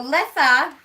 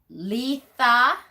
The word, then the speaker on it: Litha: used to be pronounced Letha Letha yeah and um lissa which is how i pronounce it and most Wiccans today pronounce it as li ha they don't pronounce the T part of that hi Dave that's okay